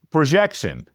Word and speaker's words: PROJXON: It It's spelled P R O J X O N. I showed it to my wife and I said, "How do you pronounce this?" Yeah. And she struggled with it a little bit. It's projection. Yeah.